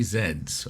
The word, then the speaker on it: Z: and the password is three Zeds or three Z's depending where you're from how you pronounce it zed z z okay General if you